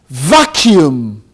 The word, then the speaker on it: vacuum: From the standpoint of English phonetics, it has two syllables. It's pronounced as vacuum.